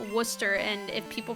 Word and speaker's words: Worcester: a town in Massachusetts that looks like it's Worchester you pronounce it Worcester or like it's it it it kind of looks like Worster like the speed run I have to double check but like it's pronounced Worster and if people pronounce it wrong they get